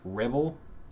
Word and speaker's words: Revell: name uh rebel so how you would pronounce rebel r e b e l just replace the b with the with a v if it makes all right so before